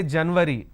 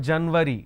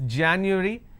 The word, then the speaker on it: January: or the first month we say January it's not January if you say January that means you're using a voice sound so it's January it's not February don't